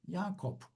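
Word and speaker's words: Jakob: Mesela Yakup ismi Almancada Yakup'tur ve J ile yazılıyor arkadaşlar. Buradaki J ile yani yotla yazılıyor. Yani Y okunuyor aslında. Yakop.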